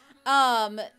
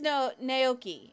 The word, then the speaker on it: Naoki: Nikoi, I think it... But I think it's Naoki is how it's actually pronounced, but I always called him Nikoi, so it's kind of stuck in my brain that way.